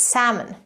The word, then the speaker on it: salmon: to say it it's salmon the L is actually silent a type of fish